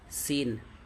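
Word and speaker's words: سين: দাল এটা হচ্ছে র র জা তারপরে দেখেন সিন এটা হচ্ছে আপনার কি সিন তারপরেরটা কি শিন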